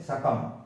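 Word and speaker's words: succumb: कोई आदमी सरेंडर करता है, सकम कर देता है, तो जब एम भी आएगा ना तो मैं साउंड बोला जाएगा, बी साइलेंट रहता है इसमें, सकम।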